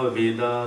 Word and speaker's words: वेद: Home से होमा हो गया, योग से योगा हो गया, आयुर्वेद से आयुर्वेदा हो गया, वेद से वेदा हो गया।